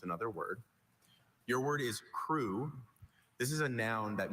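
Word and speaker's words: krewe: C R E W. Crew. Crew is spelled K R E W E.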